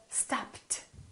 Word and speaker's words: stopped: at the second rule look at the word stopped it's not followed by a t or a d we have the letter p p is a voiceless consonant if the last letter of the verb is a voiceless consonant the ed becomes a so stopt so this is the